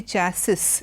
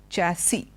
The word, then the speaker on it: chassis: seems quite fancy okay though we have an S at the end we don't say chasis it is chassis the other word which